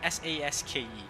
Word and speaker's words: Sasuke: Even in the English dub, they use, it's like the U is not even there. Sasuke. It's basically Saske.